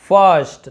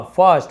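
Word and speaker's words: first: गर्थ गर्ड, शर्ट देखिए आई का उच्चारण अ हो रहा है ना। स्कर्ट, girl, swirl, twirl, whorl, शर्ल और फर्स्ट तो अ। फर्स्ट, फिश नहीं बोले, फिर्स्ट नहीं बोले, फर्स्ट।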